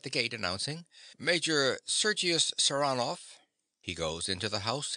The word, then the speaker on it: Saranoff: He pronounces the name with a stress on the second syllable. Saranoff.